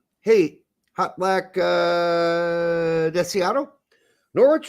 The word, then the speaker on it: Norwich: hot black uh deato norch is pronounced like porridge with an N no we we know